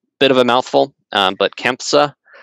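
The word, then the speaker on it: CANFSA: Bit of a mouthful, but KEMPSA is how you say it, that acronym, which was not exclusively aerospace focused, but it had heavy aerospace involvement from some of the membership.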